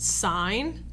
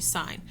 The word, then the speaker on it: sine: My pet peeve is when people call this sin. It's actually sine.